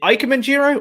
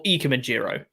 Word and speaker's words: Ikemen Jiro: Is it Ikemen Jiro or Ikemen Jiro? I've been told Ikemen.